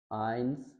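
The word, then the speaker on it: eins: उल्ट कर दें हम, ए और ई का कम्बिनेशन, तो इन दोनों को मिला के हम पढ़ते हैं आई, आई। अब फर्स्ट देखते हैं हम। अब ये है डाई, ये डी नहीं है, डाई। फिर सेकंड लाई, पाई, याई, आइंस, माइन, डाइन और नाइन।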